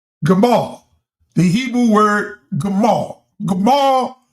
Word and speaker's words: gamal: L Gamal.